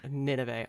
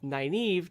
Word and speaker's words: Nynaeve: We've heard Nineveh. Oh my God, that was how I used to pronounce it in my head when I read the books in physical copy.